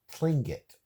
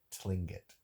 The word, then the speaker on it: Tlingit: received word from a native pling it TL ing I T I'm gonna pronounce it as sling it that works yep but